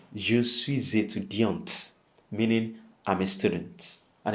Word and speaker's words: étudiante: With a female student, you say je suis étudiante. So you pronounce the T, okay? Je suis étudiant, a male student. But if you're female, then you say je suis étudiante, meaning I'm a student.